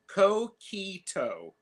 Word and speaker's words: coquito: Pronounced coquito.